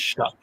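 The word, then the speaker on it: Shough: Yeah, it's pronounced Shuck. Okay. Like you're shucking corn.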